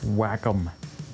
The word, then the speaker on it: Wacom: pad would you get on that oh it's pronounced Wacom wow whatever you need one of those to